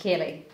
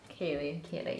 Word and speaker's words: Keilidh: What is the right pronunciation? Kaylee. Kaylee, yeah.